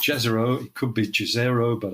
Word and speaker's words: Jezero: And it's a place, and I think it's pronounced Jezero. It could be Jezero, but I think it's Jezero.